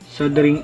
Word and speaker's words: soldering: muna natin ang ating sing iron sabi ni Google silent L sing iron at pag mainit na